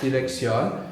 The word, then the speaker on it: dirección: The I is always pronounced like E, like in ink. Dirección.